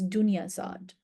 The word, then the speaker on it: Dunyazad: And Shahrazad's sister, the way you would pronounce her name is Dunyazad.